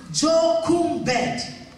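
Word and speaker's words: Jochebed: j o c h e b e d pronounced jumed a woman called jumed was announced in Exodus chapter 2 a woman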